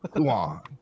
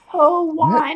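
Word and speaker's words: Tuon: The T silent.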